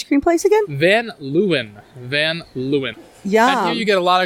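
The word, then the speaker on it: Van Leeuwen: in the East Village and how do we pronounce the ice cream place again then lewin van Lewin yeah you got a lot of cool little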